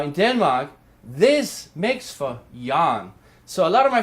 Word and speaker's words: Jørgen: just so you know yaar again is pronounced yawn at Denmark and that's explanation the G is there to kind of make the vowel sound longer and so we we